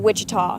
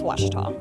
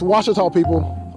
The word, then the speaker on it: Ouachita: Back in Texas, everybody pronounces it Wichita, but really, it's Ouachita. Ouachita. How would you pronounce it? Ouachita. It's Ouachita Baptist University. Get it right. It's Ouachita, people.